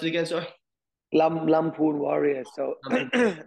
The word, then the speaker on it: Lamphun: three months is it lymph how do you pronounce it again sir Lampoon Warrior so I mean it's one of those